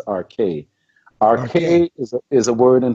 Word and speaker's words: arche: You mentioned the arche in the actual pronunciation is arche.